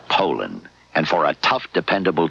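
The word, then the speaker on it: Poulan: for over 30 years they've been mispronouncing our name po po po so we'd like to remind you that our name is Poland and for a tough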